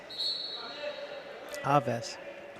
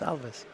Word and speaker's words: Alves: Alves. No, it's Alves. The pronunciation sheet isn't quite.